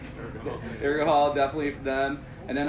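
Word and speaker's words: Urgehal: How do you pronounce it? Urgahol? Urgahol, definitely for them.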